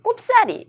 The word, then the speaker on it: 꼽사리: 둘 다 봤고요 그다음 꼽사리 라고 이제 많이 발음하는 데 어 리 가 처음 저를 된 소리가 오긴 했지만 그래도 표준어로 인정하고 있습니다 남이 노는 반에 거저